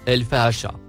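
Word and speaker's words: الفحشاء: Le deuxième mot en surbrillance jaune, se prononce, el-fahacha.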